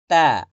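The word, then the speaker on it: ت: এরপর তা, জিহ্বার আগা সামনের উপরে দুই দাঁতের গোড়ার সঙ্গে লাগে।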